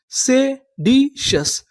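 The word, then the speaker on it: seditious: अगर आपको इंग्लिश में कहीं पर टी आई ओ यू एस लिखा मिले तो हम लोग टी आई ओ यू एस को पढ़ते हैं सस।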